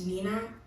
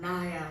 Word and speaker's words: Ninah: I'm pronouncing my name wrong. It's Ninah. It's literally Ninah. At school, people would call me like Ninah or Naya. Like, where do you get Ninah from? I don't get it.